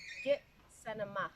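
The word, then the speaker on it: Gitxsanimaax: The pronunciation? Ascentema? Kitsanema. Kitsenema. Yeah.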